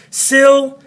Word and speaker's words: syllable: Sill-a-bull. So we got accent, not, and not.